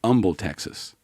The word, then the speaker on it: Humble: where else Humble Texas it's actually Humble Texas I've been there no